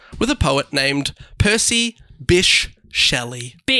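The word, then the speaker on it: Bysshe: Which I'm reliably informed is pronounced Bish. Okay. Should be like Bish. Bish or Bishy.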